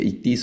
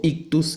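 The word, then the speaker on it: ichthys: O la palabra ictis o dependiendo cómo se pronuncie, ictis o ictus aparece que es el pececito.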